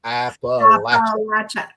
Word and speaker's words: Appalachia: Appalachia.